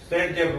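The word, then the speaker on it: Zaitsev: और याद रखिए ये किसने बताया था, ये बताया था रशियन साइंटिस्ट अलेक्जेंडर जडेव ने, तो इसे हम जतेव रूल भी बोलते हैं और प्रोनाउंसिएट करते हैं सेटजेव रूल से।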